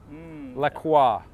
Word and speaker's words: Lacroix: see it is like la kwa Lacroix that's how yeah that's that's how you would pronounce it in English because in French we say like quoi but it's difficult the